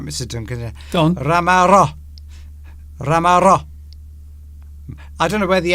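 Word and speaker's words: ramarro: Ramaro. Yes, I just said to you. I know. What's all right? I'm reading it, Mr. Duncan. Intensify the double final R, and your pronunciation. Ramaro.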